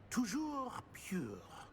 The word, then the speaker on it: Toujours pure: I order you to pronounce it for me. Master knows that Scrope's French is most pitiful. Oh, very well. Toujours pure.